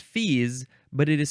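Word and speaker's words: fils: fees it is pronounced fees but it is spelled f i LS so it looks like Phils but it's fees noun from uh 1786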